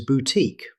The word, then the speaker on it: boutique: Another French word is boutique. Most native speakers say boutique, stressing the second syllable.